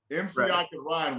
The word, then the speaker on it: MCICKANRYME: Yeah, because in case you don't know, people in the listening audience, MCI Can Rhyme was MCICKANRYME. How the fuck am I supposed to find that? The K is silent.